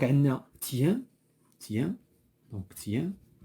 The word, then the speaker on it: tiens: Donc, on a tiens, tiens, donc tiens. Et le T ne se prononce pas.